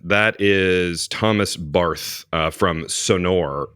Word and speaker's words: Sonor: lot of people say yeah it sounds like s o n a r which is exactly different word um yeah I think